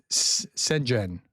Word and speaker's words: Schengen: Somebody told me how to pronounce that, and I'm trying to do that right. Schengen.